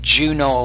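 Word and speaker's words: Juneau: are very tricky uh Juno usually we'll say Juno Alaska sometimes when a word ends in e auau we'll pronounce it more as a as an O Juno Alaska to celebrate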